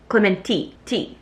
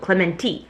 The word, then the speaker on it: Clemente: This past week I was in San Clemente, which apparently is how you pronounce it. I thought it was San Clemente. Clementi. That's apparently what the locals call it, Clementi.